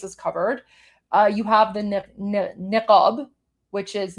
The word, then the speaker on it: niqab: You have the niqab, which is niqab, as I pronounced in English, because there's no letter q.